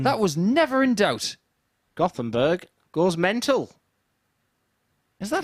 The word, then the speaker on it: Göteborg: Gothenburg goes mental. Is that how they say it in Third leg is Sweden? Because Jim I to heard it throw was first. Göteborg.